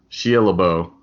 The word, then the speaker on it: Shia LaBeouf: Shia LaBeouf.